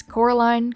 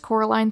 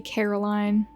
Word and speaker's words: Coraline: for me it's just Coraline three times we all know that one guy who calls this movie Caroline when you spell your